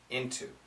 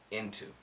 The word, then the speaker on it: into: into wanna get into now here we have an n but the t is there we keep the t into some people say you know you know some people do say inu most people say into i don't want to